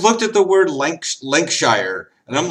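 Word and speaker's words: Lincolnshire: linkon Shire link linkshire they don't even have linoln they have link linkshire I'm like what in the hell guys you just put you took the first syllable and added Shire at the end and decided to ignore three syllables in the center at least the French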